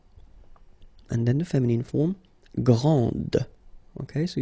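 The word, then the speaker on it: grande: then the feminine form Grand okay so you put this and then you get the sound d d Grand okay and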